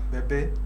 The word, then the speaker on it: Bebe Cool: It took me quite a while to actually pronounce it as Bebe because I thought the intention was to be called Baby.